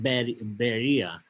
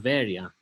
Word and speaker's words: Berea: This is Berea here. So, and a lot of times it's pronounced Berea, but in Greece, it's a fairly big city called Berea today in Greece, and there are many churches